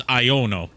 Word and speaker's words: Iono: pretty sure it's just I know no it's iono iono yeah there is an O after the